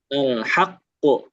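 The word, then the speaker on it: الحق: Ee haq ya. Ada tasdidnya. Jangan lupa ditekan dia. Nah, iya seperti itu. Alhaqqu.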